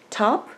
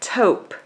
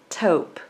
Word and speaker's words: taupe: by crafters secret and the color is light top actually is pronounced light taupe tau PE taupe so for mine I'm going to be combining